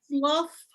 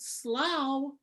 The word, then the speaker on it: slough: But listen, slough flesh, slough flesh, and then the half rhyme in the next line with laughter, slough flesh, laugh. You pronounce it slough, you lose all of that.